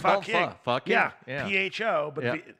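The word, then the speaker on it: phở: But it's actually the correct pronunciation for that is pho. Pho. Really? Yeah. I would have just called it Foking.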